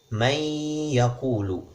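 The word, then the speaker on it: مَنْ يَقُولُ: kalimat man yaquulu dikalimat man yaquulu kita membacanya dengan itu ROM meiyaku lu Nun nya hilang masuk ke Ia seolah-olah ada tasydid di sana itu definisi idgham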